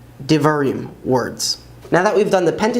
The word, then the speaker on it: דברים: And Deuteronomy is Divarim, Divarim, words.